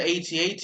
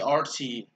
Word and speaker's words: AT-RT: I've been mispronouncing it this entire game. This entire time since I first bought it. I always thought it was the AT-AT. It's actually the AT-RT.